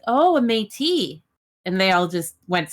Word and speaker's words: Métis: And they kept saying Metis. Yes. I was like, what's a Metis? I was like, what's a Metis? And then a Metis. It's like, oh, a Métis.